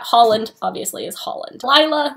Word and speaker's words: Lila: Lila is Lila, like Delilah, which her name is taken from, not Leela or anything else like that. Holland, obviously, is Holland. Lila, Rye.